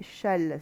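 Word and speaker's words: Chasles: vous pose problème et on le lit châle c'est à dire que les deux S ne se prononcent pas voilà on dit châle mais ça se ça s'écrit chasseless quoi voilà bon on parlera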